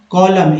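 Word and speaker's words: column: सो the first कॉलम, एम एन में एम जो है उच्चारण होता है, एन का एन साइलेंट है, कॉलम ऑफ द टेबल,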